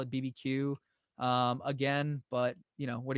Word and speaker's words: BBQueue: probably just call it BB Q again but you know what are gonna do but BB q is probably how I would canonically pronounce it if you wanna call it barbecue that's that's cool - is there something